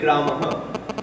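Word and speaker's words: रामः: So this would pronounce Ramaha. Right? Do you see that? Do you hear? We say Ramaha. Although it's written Rama with a visarga. The visarga kind of doubles the last vowel.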